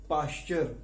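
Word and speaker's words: Pasteur: जिनका नाम था लुई पाश्चर। इसमें लुई में एस साइलेंट है, लुई पाश्चर ने, और यहां पे टी ई इनका प्रोनाउंसिएशन क्या होता है, CH।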